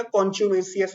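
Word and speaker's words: contumacious: Next word, इसके pronunciation में ध्यान दीजिएगा, कॉन्च्यूमेसियस होता है, ठीक है।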